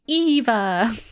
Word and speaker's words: Eva: I also want to point out that Eva, in describing how to pronounce her name, said, like in Wall-E, Eva.